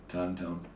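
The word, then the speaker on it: Tohn: Her name is Jackie Tone. I think I'm pronouncing Tony it Tone? T-O-H-N is her last name. Okay. Tone.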